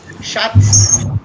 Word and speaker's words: Schatz: So, this, look again, this sound at the end must come. Schatz. शख्स Shark. Schatz. Schatz. Look Schatz. at my face. Again, look at my face. Place your tongue between the teeth and say Schatz.